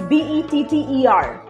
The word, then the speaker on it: better: For example, the Americans, they will pronounce the word, suppose it is B-E-T-T-E-R. As per British pronunciation, it is better. Better. Yeah, no, but the Americans will highlight the R.